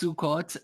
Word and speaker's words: Sukkot: Sukkot beard balm. Sukkot. Yeah. Everything is O instead of A. So it's Sukkot and what's the other one there?